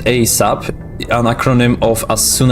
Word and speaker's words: ASAP: ASAP, pronounced ASAP, an acronym of as soon as possible.